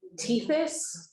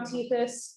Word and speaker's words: Tethys: site that's called, and I always pronounce this wrong, I think it's Latin, but Tethys is, I think, how it's pronounced.